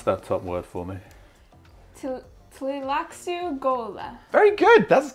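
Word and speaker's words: Tleilaxu: So, Blair, pronounce that top word for me. Tlilaxu Gola.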